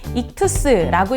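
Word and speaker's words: ΙΧΘΥΣ: 이 글씨는 익투스라고 읽는데요.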